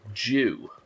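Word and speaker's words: dew: to say I'm sorry we pronounce the word d-e-w as Jew as in Jew process as you'd say due process as I want you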